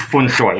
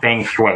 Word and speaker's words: feng shui: traditional feng shui bracelet it's pronounced fun soy if you actually know how to say it it's fun soy it's not feng shui it's one soy our traditional feng shui